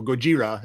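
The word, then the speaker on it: ゴジラ: So Gojira is how it's said in Japanese, but yes, that says Godzilla.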